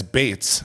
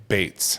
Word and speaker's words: Beetz: Zazzy doesn't know what they And then it's Bates like Beethoven. Bates.